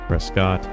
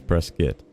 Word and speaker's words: Prescott: say it it is if you're from Arizona you say press-fit it is not Prescott some people say press gut and Prescott and press kit but I think the proper way to say it is press kit so that's that that's